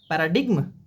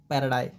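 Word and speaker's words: paradigm: ये पैराडिग्म। नहीं पैराडाई that is पैरा डाई। ठीक है? जीएम साइलेंट है।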